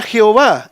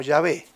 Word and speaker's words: Jehová: Nosotros la leemos en nuestra Reina Valera como Jehová, pero puede ser leída también como Yahvé.